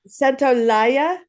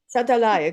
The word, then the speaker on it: Santaolalla: Santolaya, Yes. Santolaya, Gustavo Santolaya.